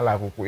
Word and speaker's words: L'Arc-en-Ciel: Itu susah banget, ejanya tuh L'Arc-en-Ciel, bahasa Prancis. Bacanya apa ya? L'Arc-en-Ciel apa itu bahasa Prancis, tapi orang-orang manggilnya Laruku.